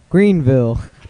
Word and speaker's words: Greenville: way they do it it's like what we would call louisville kentucky they don't like the bowel sound in their second syllable they just take the eye out so they say it